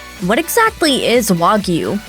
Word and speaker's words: Wagyu: For starters, it's pronounced Wagyu, not Wagyu, a fairly common mispronunciation.